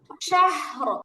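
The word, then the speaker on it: شهر: তার ডানে জবর আছে, তাহলে এটা রটা কি করে পড়তে হবে, মোটা করে পড়তে মোটা হবে। হবে। যেমন শাহর, উচ্চারণ কি হবে, শাহর।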